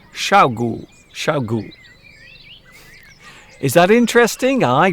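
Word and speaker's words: 小狗: By the way, in Chinese, dog is pronounced gu, gu. And if it's a very small dog, you can say xiaogu, xiaogu.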